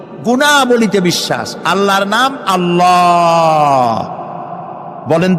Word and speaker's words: আল্লাহ: আল্লাহর নাম আল্লাহ, বলেন তো। আল্লাহ নয়, কিন্তু আল্লাহ হচ্ছে অশুদ্ধ, শুদ্ধ হচ্ছে আল্লাহ। বলার সময় মুখটা গোল হয়ে যাবে।